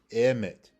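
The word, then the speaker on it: אמת: on the left, you have the aleph, which has the a sound, and you have the mim, which is the m sound, and you have the ta at the end, right? So it is pronounced emet, emet.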